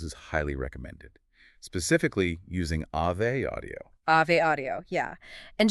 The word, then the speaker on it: Ave: Specifically, using Ave audio. Ave audio, yeah. And just so we are totally clear on the pronunciation for everyone, that is Ave, like the Latin Ave Maria, not avenue.